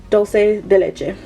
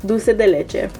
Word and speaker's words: Dulce de Leche: the shade 749 A Dulce de Leche. Dulce de Leche. Why did I say dulce like English? Guys. In Spanish it's Dulce de Leche, but I said dulce anyways.